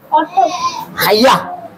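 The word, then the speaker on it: autumn: চারটাই উপরেরটা উপরেরটা ওই পাশের উপরেরটা অটম এ ইউ টি ইউ এন এন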